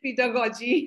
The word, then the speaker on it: pedagogy: Second, so funny that two G's in the same word, one is pronounced as G and the other is pronounced as J.